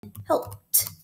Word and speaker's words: helped: You hear the T sound at the end, so I'm going to write it in helped.